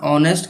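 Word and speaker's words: honest: तो यहाँ ऑनेस्ट के पहले एन क्यों लगा है, क्योंकि यहाँ पे स्वर वर्ण से शुरू हो रहा है, इसका प्रोनाउंसिएशन ऑनेस्ट, अ से शुरू हो रहा है, तो यह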